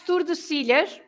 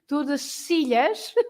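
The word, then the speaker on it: Tordesillas: Yeah, that's Tordesilhas. Yeah. And again, it's the Spanish pronunciation, Tordesilhas. Oh, stop because in Portuguese we say Tordesilhas.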